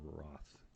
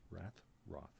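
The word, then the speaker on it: Rath: He's playing a character named Garion Roth. It's spelled R-A-T-H, Roth, but I think it's pronounced Roth.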